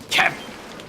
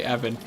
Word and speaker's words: Evan: Kevin! Silent K, Evan. Ev-in.